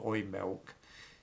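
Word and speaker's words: Oimelc: words meaning used milk it's pronounced oy milk modern experts cast doubt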